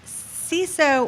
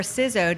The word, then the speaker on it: CISO: And without further ado, the very prestigious, okay, route to CISO or Sizo depending on how you pronounce it.